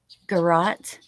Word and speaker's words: garrote: Garrote.